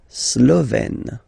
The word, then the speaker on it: slovène: Slovène. Remember, E accent grave, you open it, Slovène.